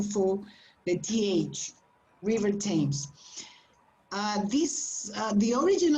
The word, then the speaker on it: Thames: famous it's not stains okay it's a different pronunciation for the th river thames uh this uh the origin of this name